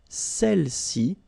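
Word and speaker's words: celles: and then all right feminine plural Cel okay don't pronounce the final s Cel s all right so let's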